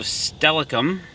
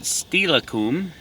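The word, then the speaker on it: Steilacoom: And we're heading down to the City of Stellacoom, or some people like to pronounce it Stellacoom.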